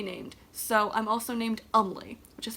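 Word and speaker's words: Eumleh: So I'm also named Umley, which is spelled E-U-M-L-E-H.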